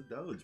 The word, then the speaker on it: doge: you see it's a doge bro it feels wrong to say with the soft g but that's how it's pronounced like i mean it's